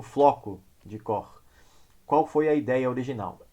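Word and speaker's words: Koch: o chamado floco de cor Qual é o sujeito que criou esse fractal que eu falo cor porque a pronúncia em alemão o sujeito alemão tá pode falar do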